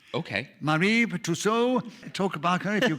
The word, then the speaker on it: Marie Tussaud: I was pronouncing it correctly in French. No, you were. Very French. You can take the English pronunciation if you wish. Okay. Marie Tussaud.